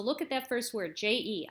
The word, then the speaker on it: je: So look at that first word, J-E. I'm saying je. It's kind of got like a Z sound in it even.